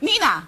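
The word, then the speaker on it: Neenah: Nina. Okay. They spelled it phonetically.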